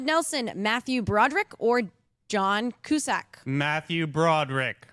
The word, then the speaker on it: Cusack: And it's Cusack, John Cusack.